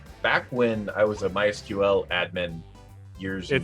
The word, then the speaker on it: MySQL: So back when I was a MySQL admin years. I'm sorry, it's pronounced my squirrel.